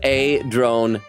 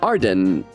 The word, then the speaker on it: Adron: And Magpie says, not Arden. It's Adron. Oh, was I saying it wrong? Adron. Hang on. Let me look at the court record and check out his name. You're right. Why I was, because Arden sounds like a name, so it's Adrin.